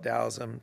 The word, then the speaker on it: Taoism: do with uh taoism frequently it's pronounced taoism so people go back and forth some people call it dausum tells them and it's